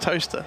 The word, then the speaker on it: Towcester: That's spelled toaster. Toaster? Pronounced toaster.